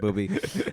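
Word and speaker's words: Bobi: full sure you you mispronounced Bobby there for a second no it's actually Boby um he's died at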